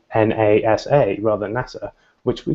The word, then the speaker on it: NASA: an impact on how screen readers for example pronounce things so words like NASA if you make it a capitalized then it may say na sa rather than NASA which we don't really further